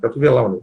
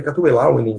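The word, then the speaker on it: Catuvellauni: E nessa reação estariam uma série de tribos, inclusive a dos Catuvelani, né? Catuvelauni, né? Essas pronúncias aí, Catuvelauni, seria o latim, digamos assim, né?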